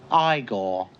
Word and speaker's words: Igor: a scientist named igor is it igor or eagle you must be igor no it's pronounced igor anyway set at a